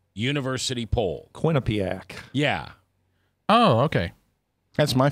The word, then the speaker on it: Quinnipiac: All right, it's the QUINNIPLAC University poll. Quinnipiac.